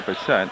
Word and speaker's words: Bassette: Valley looking for betet I did check on pronunciation remember I did the mil river otter Valley game and I didn't know if it was Basset or bassette and bassette looks like she